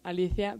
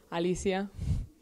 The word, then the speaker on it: Alicia: I pronounce Alicia, but here the people call me Alicia.